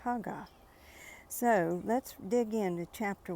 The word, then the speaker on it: Haggai: hagga and some people I've always known it as ha guy but um the pronunciation was haa so let's dig in